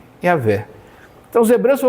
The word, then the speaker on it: Yahweh: nome que se pronuncia, porque o nome original só tem constantes, não tem vogais. Elas se perderam ao longo do tempo. Então a pronúncia ainda não se sabe exato, mas creio que se chega perto de Yahvé.